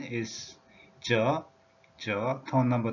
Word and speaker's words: 乛: The pronunciation tone number 2, 저, just like this.